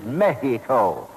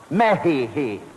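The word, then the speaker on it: México: The correct Spanish pronunciation is Mexico. Mexico.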